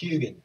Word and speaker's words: Huginn: Pronounced Huginn. Yeah, Huginn's Claw. If you want to be really Norse about it, it's Huginn.